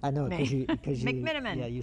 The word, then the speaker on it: McMenamin: McMenamin.